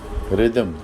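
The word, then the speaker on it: rhythm: अगर किसी वर्ड में एच जो है आर के बाद आ रहा हो तो उसमें एच जो है वो साइलेंट होता है। एग्जांपल ले लेते हैं रिदमम और फिर दोबारा रम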